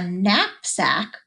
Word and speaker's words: knapsack: we wrote that one knapsack that's a different word for a backpack and it's got that silent K awesome job let's see